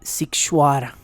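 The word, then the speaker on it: Sighișoara: de tres pisos dentro del pueblo militarizado de situará y situará escríbase totalmente distinto a lo que acabo de pronunciar lo estoy pronunciando fonéticamente pero se escribe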